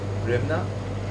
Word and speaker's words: Hryvnia: How do you pronounce the currency? Rimna.